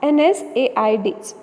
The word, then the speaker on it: NSAIDs: as non-steroidal anti-inflammatory drugs commonly pronunciate it as nsaids so we are going